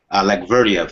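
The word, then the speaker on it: Allakhverdiev: Um, folks, I can't pronounce it. Alak Verdia. Alec Verdia.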